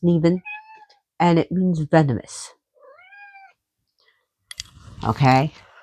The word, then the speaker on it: Nemain: Nevin's her name is spelled Nemain, but it's pronounced Neven, and it means venomous.